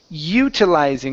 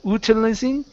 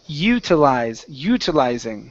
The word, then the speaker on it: utilizing: Here we have the word utilizing. Instead of utilizing, it's utilizing. Utilizing.